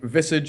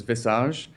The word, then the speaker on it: visage: Like visage is the English pronunciation of it, but the French pronunciation is visage.